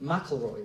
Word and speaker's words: McIlroy: Ken Thompson uh but a guy called Doug McIlroy oh no look McElroy that's how you're supposed to pronounce it and the McElroy was a technical